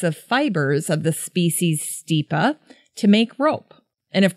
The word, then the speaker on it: Stipa: and by the way there are so many ways to pronounce stipa some people say stipa some people say stippa I say stipa cheers there's one cool